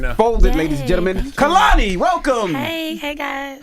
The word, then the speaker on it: Kehlani: It's very important that during this era of my life, I let everyone know that my name is pronounced Kehlani. Kehlani.